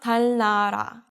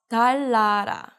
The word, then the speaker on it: 달나라: So this is not 달나라, but 달라라.